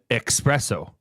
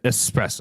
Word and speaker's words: espresso: It's not an espresso. It's an espresso.